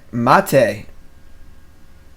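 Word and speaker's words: maté: of a splash alright mate' pronounced like latte and math hey is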